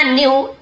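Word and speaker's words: knew: Buddha न्यू everything, और Buddha न्यू यानी जानते थे, यहाँ पे के साइलेंट है लेकिन लिखेंगे जरूर, न्यू नहीं पढ़ेंगे, न्यू पढ़ेंगे, न्यू।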